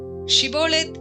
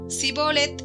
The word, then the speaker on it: ஷிபோலேத்: கேட்பார்கள் அவன் அல்ல என்றால் நீ ஷிபோலேத் என்று சொல் என்பார்கள் அப்பொழுது அவன் அப்படி உச்சரிக்கக் கூடாமல் சிபோலேத் என்பான் அப்பொழுது அவனைப் பிடித்து யோர்தான் துறையிலே